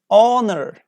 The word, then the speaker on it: honor: our our honor air exhibition exhibition not H we don't pronounce H here please don't do that